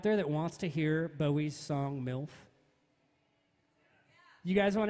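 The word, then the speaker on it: Boey: my name is bowie like reynolds bowie like david is just spelled completely differently and it's spelled b-o-e-y follow me on all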